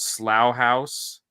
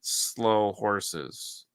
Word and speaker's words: Slough House: It's called Slough House, Oh. but the Americans pronounce it slow horses.